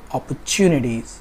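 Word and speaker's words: opportunities: इसको बोलना पड़ेगा आपको अपॉर्चुनिटीज़, अपॉर्चुनिटीज़। तो जो आपका प्राइमरी स्ट्रेस है वो आपका टी के ऊपर है, तो जो ब्रिटिश है वो चा बोलते हैं और अमेरिकन इसको टा से प्रोनाउंस करते हैं।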